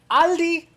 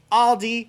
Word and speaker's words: Aldi: the lesson comes in this s right here this s does not exist it's pronounced aldi aldi and you see it